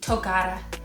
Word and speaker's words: Togara: language of zimbabwe um so how it's said is tokara so toga not togo yeah so that is